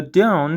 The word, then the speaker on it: don't: Because whenever a T comes after an N, it's often silent, especially in casual speech. So, don't sounds like D.